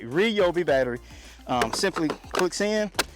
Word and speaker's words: Ryobi: you'll be okay I'm gonna say it right Ryobi battery um simply Clicks in this thing has